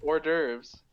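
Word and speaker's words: hors d'oeuvres: Don't say the H. It's orves. The How do you spell it then? It starts with an H. No, no, no. It's a silent H.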